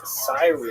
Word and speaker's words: Cyrene: I've looked it up and I've heard it pronounced as Cyrene in English. In Greek, it would have been something like Kurene. So I'm probably going to say Kurene, and I'll probably be wrong, but this will be the first time.